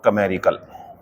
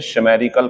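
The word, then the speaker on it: chimerical: ये होता है बच्चों कमेरिकल, ठीक है ना। उस दिन मैंने इसे शेमेरिकल पढ़ दिया या मैंने चिमेरिकल पढ़ दिया, तो ये दोनों गलत है।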